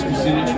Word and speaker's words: Kucinich: Dennis Kucinich rhymes with spinach.